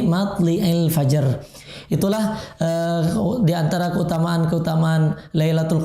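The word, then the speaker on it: مطلع الفجر: Wa qara'a al-Kisai, dan Imam Al-Kisai membacanya matli'il fajar bikasri lam. Matli bukan matla'il fajar, tapi matli'il fajar.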